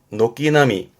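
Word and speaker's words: 軒並み: 뒷글자가 병자라 나란히 병자인데요. 그 처마가 나란히 있다는 뜻이에요. 발음은 녹기나미.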